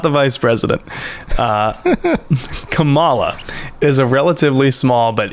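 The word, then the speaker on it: Camala: tell you uh so this planet is named kamala not kamala that is the vice president ah okay this this one is kamala uh and it is spelled c-a-m-a-l-a realized i shouldn't be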